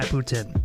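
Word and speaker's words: poutine: you got to try ptin and I know Putin is that how you say it ptin ptin yep so um the people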